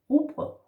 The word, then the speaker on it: rugbrød: Rugbrød or rugbrød.